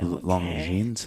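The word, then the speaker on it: Longines: recipient of the okay long jeans long yeah how do you say that long jeans long je long jeans long jeans it's French again that's what I say it is French long jeans prize for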